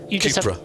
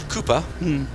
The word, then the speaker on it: Cupra: So all the Seat racing cars will be Cupra. You just have to be very careful how you say it, otherwise people think you're talking about 1950s Formula One cars. Cooper?